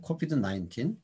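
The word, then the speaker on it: COVID-19: 이제 뭐 아까도 발음들이 국제적으로는 CNN 뉴스를 보면 코비드-19이라고 하더라고요. 코비드-19.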